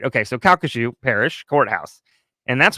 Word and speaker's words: Calcasieu: Calcasieu. Did good job. It is spelled Have you heard?